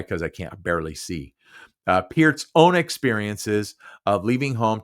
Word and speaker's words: Peart: I know in high school, everybody was like, Neil Peart, Neil Peart, Neil Peart. Although we all mispronounced it at that time. It was always Peart, Neil Peart, Neil Peart, but it's actually Peart.